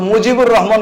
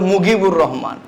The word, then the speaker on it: মুজিবুর রহমান: উনার নাম তারা নিয়েছিল মুজিবুর রহমান কইতে পারে না উনারা বলে মুগিবুর রহমান এরা জিমের উচ্চারণ করে গাইন তো পত্রিকার মধ্যে যখন